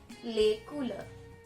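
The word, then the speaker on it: les couleurs: do we call the colors in French it's lay cooler lay cooler so before we get into the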